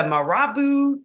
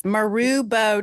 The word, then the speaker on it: Marubo: The Marabu tribe. It's Marubo tribe.